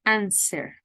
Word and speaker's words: answer: already presented remember that the W in answer is silent there is not answer answer um private and you